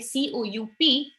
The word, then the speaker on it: coup: Burkina Faso suspended from the African Union following the coup. One point here guys, जो ये word होता है COUP, it's pronounced as coup. कूप नहीं होता है, ठीक है, तो म्यांमार में मिलिट्री कू था, so it was coup.